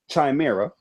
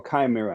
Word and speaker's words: Chimera: Assassin's Creed Empire, Spider-Man, Resistance 4, Fall of Chimera, or Chimera, however you want to pronounce Chimera.